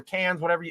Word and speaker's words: Cannes: You had it premiering at like Cannes Film Festival, or Cannes, how it's pronounced.